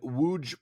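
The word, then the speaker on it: Łódź: So, most of Inland Empire was filmed in Los Angeles, but Lynch also shot extensively in Wuge, Poland. I had to look up how you pronounce that because I didn't want to it up.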